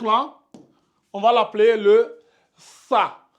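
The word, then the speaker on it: ثاء: va l'appeler le ça vous mordez bien le la langue je je vais écrire ça vous allez voir euh c'est un peu comme si on allait écrire comme ça c'est comme si je j'écrivais ça comme ça mais le T Ici vous mettez la langue entre les dents comme ça et vous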